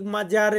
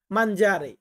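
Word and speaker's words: mangiare: হয় মাঞ্জারে মাঞ্জারে দেখুন বাংলা উচ্চারণে কিন্তু মাজারে লেখা আছে কিন্তু এটা উচ্চারণ হবে কি মাঞ্জারে এখানে আমার একটা ভুল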